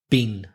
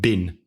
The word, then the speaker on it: been: where exactly and the past participle bean bean like mr. bean but remember that when bean is in connected speech in the middle of a sentence is usually pronounced bin I've been the iron